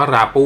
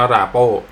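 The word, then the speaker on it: Rapoo: ข้าพเจ้า เลือก เป็น ยี่ห้อ ผม อ่าน ว่า รา ปู นะ ครับ แต่ ว่า คน ที่ เขา เขียน คน ขาย เนี่ย เขา เขียน ว่า รา โป้ คือ ตอน เนี้ย ใช้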